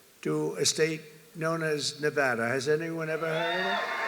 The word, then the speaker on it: Nevada: heard of it and don't ever mispronounce the name you're not allowed to do that you you mispronounce the name you got a problem you ever see somebody when they say it's Nevada Nevada no there they're in deep they're in deep trouble I I want to